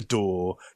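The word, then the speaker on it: DAW: Uh and for any Americans out there, yes, we do call it a door. D A W has too many syllables.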